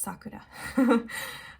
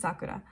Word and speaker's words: Sakura: that i'm super offended or anything but it's pronounced sakura um i see a lot of japanese brands being mispronounced on the internet um and i don't expect everyone to know japanese but it's sakura um i also hear a lot of people